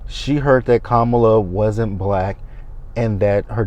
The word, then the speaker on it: Kamala: Y'all are intentionally saying Kamala's name wrong when her name has been pronounced more than once. It is Kamala, not Kamala. Like y'all keep saying Kamala.